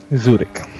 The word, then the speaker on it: Zurich: My name is Zurich. You will pronounce it correctly. Zurich. Zurich. Exactly. Zurich.